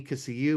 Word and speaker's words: Kissimmee: Kissimmee, Kissimmee, but Kissimmee is what the right way to say it is.